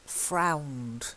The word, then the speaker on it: frowned: And then frowned. It's long owl. Frowned.